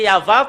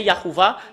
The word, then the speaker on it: Yahvah: Normalement, c'est Yahva. Quand on le prononce, ça devient Yahuwah.